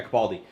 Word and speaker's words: Capaldi: No, the new guy, Capaldi.